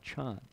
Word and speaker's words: Chan: So it's a historical accident that people know about Zen but not Chan, right? Because Zen is the Japanese pronunciation of Chan.